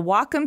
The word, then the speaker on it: Wacom: Wacom no well calm no it's Wacom pronounced wah like the Japanese word for harmony and come for computer the Wacom Cintiq 16 creative pen